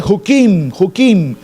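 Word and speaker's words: חוקים: Esas leyes en hebreo se dice hukim, con la letra K en medio. Hukim, J-U-K-I-M. Hukim, leyes.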